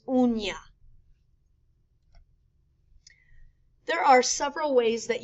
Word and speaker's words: uña: U-N-A is pronounced una. U-N with a tilde A is uña.